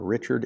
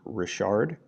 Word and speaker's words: Richard: captain the bottom Rashard it's not Richard it is pronounced Rashard in 1779 the story